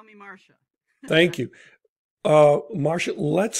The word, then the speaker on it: Marcia: david summerfleck podcast my guest today is dr marshall ledford did i pronounce that correctly uh the reverend doctor reverend doctor thank you call me marcia thank you uh marcia let's start with introductions